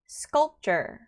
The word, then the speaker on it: sculpture: 자, 여기서는 가장 틀리기 쉬운 거는 sculpture 하고 P 발음을 주게 되면 틀린 발음입니다. 그래서 sculpture. 그냥 이 P는 이 공기를 차단하는 정도의 소리라고 보시면 됩니다.